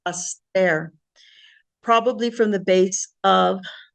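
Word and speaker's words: ἀστήρ: So the Greek Hebrew definitions from Strong's is aster, pronounced aster, probably from the base of 4766, a star, as strewn over the sky, literally or figuratively, a star.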